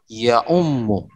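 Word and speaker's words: يعم: Ya, jadi bacanya ya'ummu. Oke, bacanya ya'ummu.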